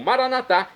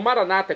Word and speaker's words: Maranatá: E agora eu clamo, Maranatá, como dizemos nós católicos, ou maranata, como dizem nossos irmãos separados, das comunidades evangélicas ou protestantes. Não importa a pronúncia, o significado é o mesmo.